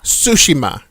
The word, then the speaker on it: Tsushima: Tsushima. So I guess the T is silent.